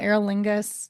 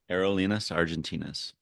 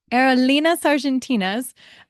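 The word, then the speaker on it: Aerolíneas Argentinas: um we get to I I always pronounce this wrong what was it called AOL lingas no aerolas Argentinas aerolas Argentinas um and the gate agent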